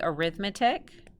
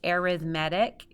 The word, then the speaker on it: arithmetic: see this word right here and we think arithmetic but it's actually pronounced differently it's arithmetic so an arithmetic sequence is a sequence in which the difference